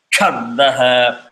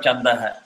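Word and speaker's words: छन्दः: It is not chandah. It is chandah. Again, visarga will follow what the previous syllable is. If it is da, it becomes ha. If it is ya, it becomes yaha. If it is yo, it becomes yoho.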